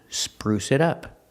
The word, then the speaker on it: spruce it up: middle Spruce it up pronunciation Spruce it up the T in it changes to a fast D it added spruced Spruce